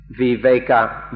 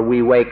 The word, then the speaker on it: viveka: pali the word is viveka v-i-v-e-k-a or we wake up and in thai it's pronounced we wake we wake up is